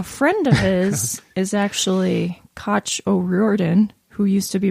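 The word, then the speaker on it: Cait: of his is actually Koch O'Riordan who used to be married to Elvis Costello oh and I thought it was Kate well he calls her Koch it's probably some Irish pronunciation and I was like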